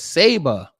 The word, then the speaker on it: Saba: name of Uncertain pronunciation oh it's Saba I'm sorry I kept saying Saba liked the sword from my amorphic Power Rangers which is highly funny